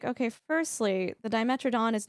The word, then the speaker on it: dimetrodon: like okay firstly the dimetrodon is not even a dinosaur it's a and then pronounce it I thought it was demitron I've been pronouncing it wrong all my life I don't know